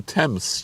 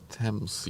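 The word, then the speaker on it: Thames: It's on the way to Temps, UK. Nettos wasn't here to hear me pronounce it correctly. Tames UK.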